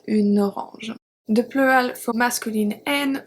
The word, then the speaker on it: une orange: And then if we look at the feminine singular, we have une fille, and then une orange. So here you can also link the two words, une orange.